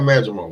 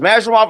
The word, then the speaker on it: Madrimov: I want to know who has him fight Madrimal. Where's this spectacular Madrimal fight coming from? From Eddie Hearn. Eddie Hearn dropped Eddie Hearn. Yeah. Did you not hear Eddie Hearn say it was Madrimov?